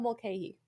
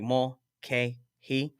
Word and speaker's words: Mulcahy: I had to literally break it down, and like like when you break it down like dummy version, like mole K he.